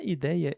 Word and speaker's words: ideia: Na ideia, ele é um pouco diferente e isso tem a ver com a pronúncia básica do português da vogal e, que pode ser tanto e como é. Então, ideia ou lei em si usa o mesmo ditongo, que é ei.